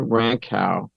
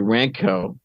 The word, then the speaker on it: Rankow: been doing with others Liza rankow I'm sorry ranco excuse me 40 is slip because